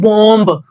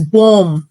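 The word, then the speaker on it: bomb: pronounce नहीं करना होता so actual word is बोम नॉट बम so next time don't pronounce it एज़ बम इट्स बोम the next word is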